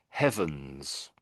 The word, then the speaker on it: heavens: And with these words, I am pronouncing the H at the front. These all have an H to be said out loud. So the top one is heavens.